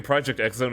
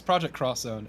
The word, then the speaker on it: Project X Zone: Yeah, it seems like in Project X Zone, it's all about emulating a lot of moments from this game. It's Project Cross Zone, actually, is how you say the name.